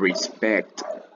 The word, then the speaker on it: respecto: we are the world respecto respect el acento va en la segunda sílaba respecto hablamos de aquella